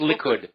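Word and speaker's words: Likud: put T yeah the L party Li it's pronounced liid yeah you got I can't say it but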